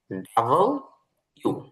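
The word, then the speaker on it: W: এতে করে আমরা পড়ি এটা হচ্ছে ডাবল ইউ সহ উচ্চারণ হচ্ছে ডাবল ইউ ইউ ডাবল ইউ এখানে যদিও দেখতে ডাবল ভির মতন দেখা যায় কিন্তু এটা হবে ডাবল ইউ ডাবল ইউ ডবল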